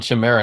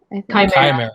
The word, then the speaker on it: chimera: like that for the dna piece it's called chimera not primera right hmm is it called chimera it's chimera okay i was trying to i was searching